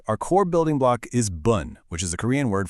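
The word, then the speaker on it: 분: It's actually much closer to the English word boon with a softer, slightly rounded vowel sound. Bun.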